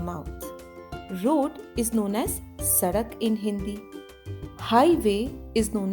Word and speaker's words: सड़क: So the pronunciation of D is as of Ada, as in Sadak.